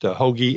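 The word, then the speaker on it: Hoge: his name is Tom Hoagie. It's pronounced Hoagie, H-O-G-E.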